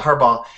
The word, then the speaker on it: Harbaugh: football team and the new the coach Jim Harbaugh. Am I pronouncing that correctly? Harbaugh. Yeah. Yeah, Harbaugh.